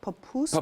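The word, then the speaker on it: pupusa: - Papusa.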